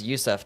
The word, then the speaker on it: Yusuf: We pronounce it Yusuf, just like in Arabic.